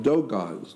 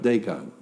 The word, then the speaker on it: Dogon: Yeah, like Dogons. It's spelled D-O-G-O-N. Dogon, not Dagon.